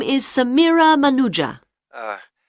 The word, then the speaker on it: Manuja: My name is Samira Manuja. Uh, can you spell that, please?